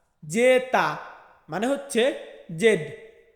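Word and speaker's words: zeta: জেড, জেডকে Italian ভাষাতে বলা হয় জেতা, জেতা মানে হচ্ছে জেড।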